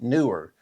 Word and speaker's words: Neewer: They said, "It's absolutely pronounced Neewer like a newer car, a newer camera.